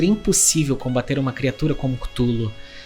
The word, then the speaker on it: Cthulhu: Se fôssemos tentar ser fiéis à sua pronúncia, então seria algo mais parecido com Clulu, o que é infinitamente mais estúpido. Então seguiremos com Cutulo mesmo.